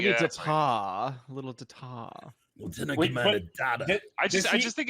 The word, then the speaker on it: Data: correct you to his correct pronunciation which is data data honestly in this new